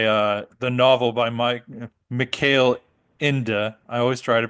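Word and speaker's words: Michael Ende: I think Um cuz it looks like Michael end but it to me but Oh end yeah it's male inda inda I like it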